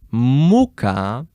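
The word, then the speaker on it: мука: Muka, you put the stress on the first syllable. And if you put the stress on the first syllable, it will mean floor. The one to eat. Not the one that you stand on. Whereas if you actually put the stress at the end and you say muka, you still have the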